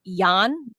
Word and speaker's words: Jahn: So I think his name's actually pronounced Jahn, Joshua Jahn.